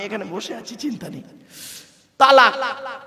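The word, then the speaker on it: طلاق: না ভাব আমি এখানে বসে আছি চিন্তা নেই তালাক কি বলে শব্দটা কিন্তু তালাক নয় শিখে যান আজকে শব্দটা তালাক নয় শব্দটা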